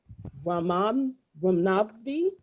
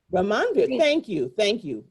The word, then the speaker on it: Ramanvir: Ramnavi? I'm probably tearing that up. Ramanvir. Thank you.